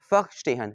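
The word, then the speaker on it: Verstehen: Weber, ठीक है, termed फर्स्टेहन। अब ये जो लफ्ज़ फर्स्टेहन है मेरे बेटे, ये बेसिकली जर्मन वर्ड है। फर्स्टेहन, वैसे तो ये वर्स्टेहन लिखा हुआ है, लेकिन अगर आप इसको एग्जैक्टली जो इसकी प्रोनाउंसिएशन वो क्या बन जाएगी?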